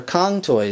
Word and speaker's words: Cang Toys: so yeah that is what cang toys are Kong toys this is how that is actually pronounced is going to scale